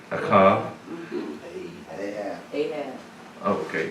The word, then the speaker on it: Ahab: Now the rest of the acts of Achav, I think I'm pronouncing that right, Achav. Ahab. Oh, okay, Ahab.